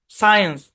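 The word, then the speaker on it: science: সায়েন্স, এখানে এস সি এর পর আই আছে, সিটা সাইলেন্ট।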